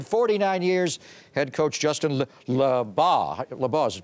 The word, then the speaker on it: Labagh: Head coach Justin Labagh is pronounced.